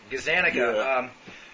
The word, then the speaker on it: Gazzaniga: if it was Gaza Nagas and how you pronounce his name it's just as an ago Gazzaniga somebody who'd been doing split brain experiments on